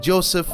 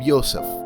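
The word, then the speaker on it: Josef: In the wiki they call him Joseph or Yosef, which way you want to pronounce it, but the funny thing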